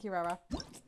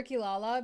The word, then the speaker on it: Kirara: K and Kila and Kirara I keep wanting to call her kilala because that's how you this name was pronounced in Inu Asia and it was spelled the same way anyways now that we